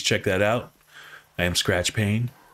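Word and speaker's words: Skratch Paine: I am Skratch Pain. Skratch with a K, Pain with a silent E at the end.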